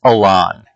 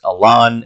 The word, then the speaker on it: Elan: And what I'm choosing is the species Elan. It's E-L-A-N, and I've always pronounced it Elan. I don't know if anyone pronounces it Elan. I pronounce it Elan. This seems a little classier to me.